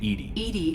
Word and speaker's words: EDI: airlock is a jar why are you named edie is the phonetic pronunciation of edi that is an acronym for